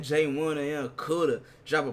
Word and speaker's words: Jmunna: It's Jmunna.